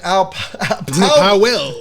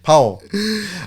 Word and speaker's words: Powell: how Sergeant out well now you got me saying it wrong Powell uh which was uh